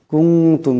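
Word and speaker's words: كُنتُم: কুনতুম, এখানে নুন সাকিনের পরে তা আসছে, তা ইকফার হরফ, এখানেও ইকফার একালে পরিমাণ গুন্না হবে। কুনতুম এমন করে।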